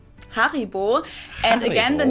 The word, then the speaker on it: Haribo: Haribo. Maybe not everyone knew that Haribo is actually German. We pronounce it Haribo. Haribo.